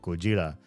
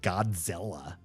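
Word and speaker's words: ゴジラ: and you're like, "Oh, these old films called Gojira." And then you hear some American say Godzilla. Does that sound like Goja to you?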